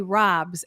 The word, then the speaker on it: ROBS: I have a story here, and we will get back to Susie and the Robs, as in rob a bank is the right way to pronounce the acronym.